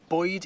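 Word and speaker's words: Bwyd: Boyd is spelt similarly, so Boyd is food, Bywyd is life.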